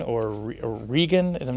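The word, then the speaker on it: Regin: this new computer virus that was discovered called regen or regan and i'm not exactly sure how to pronounce it it's uh reagan it's a yeah right it's reagan it's reagan uh it's a name from norse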